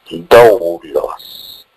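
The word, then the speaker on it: δοῦλος: La palabra siervo en griego se pronuncia doulos, que significa esclavo.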